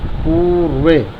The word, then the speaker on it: पूर्वे: पूर्वे, पूर्वे, पू पर जोड़ दीजिए, रे बोलना है, पूर्वे।